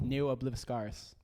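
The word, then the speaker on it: Ne Obliviscaris: How do you pronounce the name again? Neo Obliviscaris.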